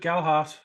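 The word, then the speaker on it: Gelhardt: Gelhard, yeah, there's no D in it.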